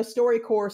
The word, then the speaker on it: StoryCorps: And, you know, StoryCorps spelled like corpse, C-O-R-P-S.